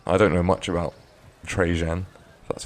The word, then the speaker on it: Trajan: fits I mean I don't know much about trajan that's how you pronounce his name um I never even heard